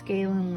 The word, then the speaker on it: Galen: I think it's Galen leather, not gallon leather.